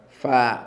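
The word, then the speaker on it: ف: So the name of the letter is fa, stretched. But when a fatha lands on it, it is just fa.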